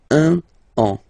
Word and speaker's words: un an: Okay, so you can hear that now I make this link between the two.